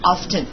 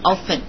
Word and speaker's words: often: 当然了，也有的美国人习惯上读成 often，但我们一般都读成 often，就那个 t 呢是不发